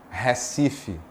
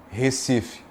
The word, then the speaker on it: Recife: Se você está mais afastado do Recife, você tende a dizer Recife, mais aberto. As vogais são mais abertas. Quanto mais próximo do Recife, do litoral, mais fechada será a pronúncia das vogais. Recife. E quanto mais velho você for, quanto mais idade você tiver, aí você troca o E pelo I.